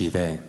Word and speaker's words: Sheev: Yeah, it's pronounced Shive, but again, that's another thing from the And prequels H2.